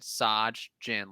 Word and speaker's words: Sajin: My name is pronounced like Taj Bradley, but instead Sajin, like the drink."